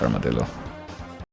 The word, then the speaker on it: armadillo: The name of this animal is a word of Spanish origin, so I keep wanting to pronounce it the proper way, but no, in English it's Armadillo.